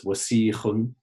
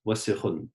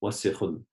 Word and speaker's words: وسخ: A lot of people pronounce it as wasikhun, but it's just wasikhun, wasikhun.